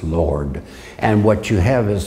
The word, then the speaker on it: Yahweh: But the point that we want to keep in mind is that Yahweh is not pronounced Yahweh, it's pronounced Lord.